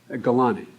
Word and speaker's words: Gulati: is a Gulati, am I pronouncing it correctly? Gulati.